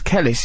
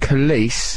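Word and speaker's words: Kelis: think it's definitely pronounced kise it's kise like police isn't it kce police so if you that's a handy tip to remember kce it rhymes with police yeah that's that's the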